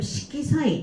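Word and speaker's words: 色彩: 이 색채라고 하게 되면 식기사이 정답 3번 골라주시면 되겠습니다. 이거는 빛색자가 쇼크가 아니라 식기라고 읽어주셔야 되고요. 정답 3번 골라주시면 돼요.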